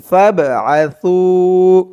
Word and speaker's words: فابعثوا: Wine খিফতুম শিকাক বাইনিহিমা ফাবআসু, ফা দিয়ে বাকে ধরবে। এই বাটা হচ্ছে কলকলার হরফ, ধাক্কা দিয়ে পড়তে হবে। ফাব আ সু, এক আলিফ টান, পেশের পরে ওয়াও সাকিন, সু। আর এখানে সার উচ্চারণটা একদম নরম পাতলা করতে হবে। জিহ্বার মাথা উপরের দাঁতের মাথার সাথে লাগবে সার উচ্চারণটা করার সময়।